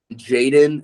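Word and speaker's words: jxdn: like a pop punk kind of band okay Jaden it's spelled j-x-d-n he's imagine MGK but like he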